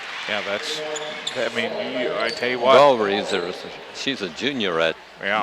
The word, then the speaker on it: Gawrys: Galrees, she's a junior at Yeah. Mount Vernon, 5'7". How did you pronounce her last name? I went Galreys, Yeah.